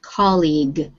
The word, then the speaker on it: colleague: not sure yeah diana's colleague that word is pronounced colleague like u e is silent on the end of the word i believe this word